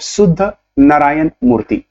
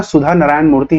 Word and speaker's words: सुधा नारायण मूर्ति: चित्रा बनर्जी ने लिखी है uncommon love the early life of शुद्ध नारायण मूर्ति, ठीक है। तो सुधा का यहां सुधा नारायण मूर्ति है, ध्यान रखिएगा, शुद्ध मैंने गलत प्रोनाउंस कर दिया, सुधा नारायण मूर्ति, ठीक है।